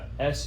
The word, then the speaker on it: Sununga: But yeah, it's called Sanunga. So if you Sanunga. look up on YouTube the Sanunga UST. So Sununga is how you spell it.